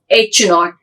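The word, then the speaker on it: H₀: show by using the H 0 and it is the pronounced as H naught and the null hypothesis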